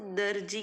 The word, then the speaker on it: दर्जी: दर्जी शब्द में र आवाज की आवाज है, दर्जी हम ऐसा बोलते हैं। तो देखो जब हम स्लोली बोलेंगे ना तब आपको उसका प्रोनाउंसिएशन पता चलता है, ऐसे र की आवाज निकलती।